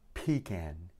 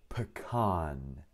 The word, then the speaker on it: pecan: Pecan. Pecan. No! Pecan. Pecan. Pecan. باللهجة الأمريكية نقول الاثنين، وباللهجة البريطانية pecan.